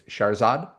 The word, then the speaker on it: Shahrzad: It's Shahrzad. Yes. A Yes, it proper is. emphasis on the second syllable. Shahrzad.